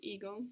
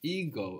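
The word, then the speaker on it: εγώ: in Greek is so we have a new sound here it's like a soft G which hangs around in the throat good perfect does it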